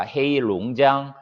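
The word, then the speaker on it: 黑龙江: 헤이룽장, 이 3개 성에 골고루 분포되어 있고, 시입니다.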